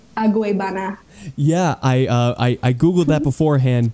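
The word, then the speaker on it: Agüeybaná: I'm going to insert the actual like exact pronunciation of it. Okay, it's Aguebana.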